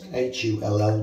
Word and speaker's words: Hull: It's spelled H-U-L-L, but the locals don't pronounce the H, so it's Hull.